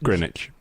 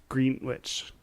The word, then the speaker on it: Greenwich: Greenwich. But it has 2 E's. Greenwich. The W is silent. Greenwich? Greenwich.